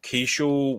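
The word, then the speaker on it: Keaschall: Is it pronounced Keeschel? Luke Keeschel, yeah.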